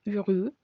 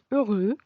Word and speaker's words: heureux: Los diptongos del francés que mencioné son E con U, suena U, como heureux, feliz, heureux.